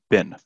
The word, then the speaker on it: been: if it is and it's not being it's pronounced bin bin that's it it's very short it's a if it